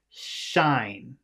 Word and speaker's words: shine: so the thing is you have to move your tongue up like this so that it's hitting the top of your mouth or almost hitting the top of your mouth to make the air make a different sound shine sign sign shine you're your tongue your tongue needs to be hitting almost the top of your mouth in the back not in the front